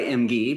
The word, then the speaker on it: Emge: Did I pronounce that right? Emge? Yes, you do. Well, I go by Emge, but I'll answer to anything.